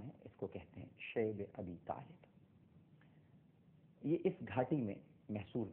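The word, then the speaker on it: شعب أبي طالب: اور اس کے بعد شیب ابی طالب، جس کو بعض حضرات شعب ابی طالب بھی کہتے ہیں، لیکن جس کا صحیح تلفظ ہے وہ شعب ابی طالب ہے، ایک گھاٹی تھی، آج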